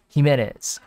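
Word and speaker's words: Jiménez: ximena's okay jimenez jimenez okay awesome got it jimenez all right awesome so i wonder how much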